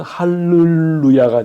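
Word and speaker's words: הַלְלוּיָהּ: 앞에 어 이게 단모음이 중 이게 오게 되면 할렐루야가 돼야 되는데이이 자음이 두 개가 같이 왔기 때문에 그 법칙이 깨어지는 거예요 그래서 앞에 묵음이 아니라이 유성으로 할렐루야로 발음을 해야 되는 거예요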